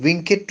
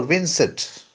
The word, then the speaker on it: vincet: Omnia love conquers all is it winit or Vincent I think both are right but vincet is a more English pronunciation while winit is a more Latin pronunciation am or winit Omnia